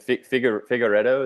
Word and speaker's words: Figueiredo: So Bonfim, Hill, and Figueiredo. Is that how you say it? Yes. Yeah.